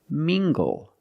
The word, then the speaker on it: mingle: look at this word mingle using the nasal sound and the hard good together Ming goal mingle mingle is a verb